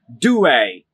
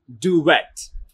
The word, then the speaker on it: duvet: we try it again do a try it one more time do a it is do a not duet this word you're looking